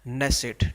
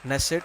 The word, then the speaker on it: Knesset: इसका नेसेट, ठीक है, नेसेट होता है। स्पेलिंग वैसे के से स्टार्ट होती है इसकी, KNESSET, नेसेट। के वैसे ही साइलेंट होता है जैसे कि नाइफ नाम के वर्ड में होता है।